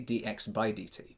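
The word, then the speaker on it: dx/dt: But technically, this speed is actually dx divided by dt, or as it's pronounced normally, dx by dt.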